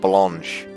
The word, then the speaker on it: blanche: The female would have an H and an E and be pronounced blanche.